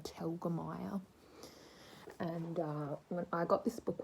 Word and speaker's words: Telgemeier: Raina telgemeer just kidding I know how to say her name I I used to look at it and be like how do you say that name but it's Raina Telgemeier and I got this